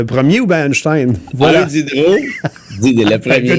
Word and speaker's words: Diderot: Diderot. Le premier. Diderot, il y a 3 syllabes. Diderot. Oui, Diderot. Mon compte Diderot aussi. C'est le compte Diderot. Diderot, c'est OT, là, pas EAU à Notre-Dame-du-Lot, là.